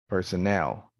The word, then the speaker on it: personnel: sounds stressed syllables again you might convey the wrong message if you don't know which one to stress for example here you have personal and this one here is personnel see decade decayed desert dessert